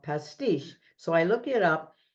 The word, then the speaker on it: Pastiche: is where does the name come from okay pasti giving you a little background the first time I heard this word it was a restaurant in Milwaukee called pasti so I look it up and it refers